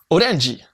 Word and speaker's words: Orenji: Dans cette petite vidéo, laisse-moi te montrer la voix de Orenji. Ouais, c'est comme ça que ça se prononce en japonais. Sinon, j'aurais pu dire Orange à l'américaine.